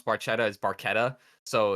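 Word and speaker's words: Barchetta: Baretta but the way you pronounce Baretta is barquetta so it's pronounced wrong but it's the red Baretta um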